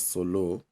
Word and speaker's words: sulu: specific settings by fijians asulu pronounced as solo is a killed like